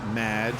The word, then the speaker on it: Madge: It's Madge, which rhymes with badge, as in duh, and no as in more than you.